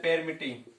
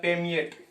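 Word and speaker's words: permeate: इसका प्रोनाउंसिएशन है वो कतई रूप से गलत है। इसका अर्थ क्या होता है, थ्रो हो गया। और इसका जो प्रोनाउंसिएशन होता है वो होता है पेमिएट। पेमिएट इस तरीके से होता है। तो ये कहते हैं पेमिएट होता है।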